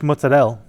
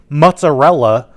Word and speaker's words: mozzarella: What I used to prepare this was a ball of fresh mozzarelle. That's right. That's how you pronounce it. Mozzarelle. If my grandma heard me saying mozzarella like a mook, I'd get the wooden spoon.